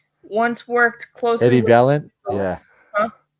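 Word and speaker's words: Valiant: Valent.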